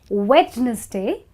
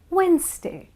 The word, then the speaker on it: Wednesday: the week you know it's not wedes day because the D is silent it's Wednesday that's right that's how it is it's Wednesday and not wedness day okay the next one